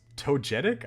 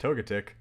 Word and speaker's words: Togetic: Is that how it's pronounced? Togetic? I thought it was pronounced Togetic.